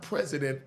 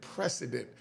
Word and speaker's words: precedent: Not president, precedent.